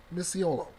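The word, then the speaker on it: Micciolo: There it is. That's the right pronunciation. Misiolo.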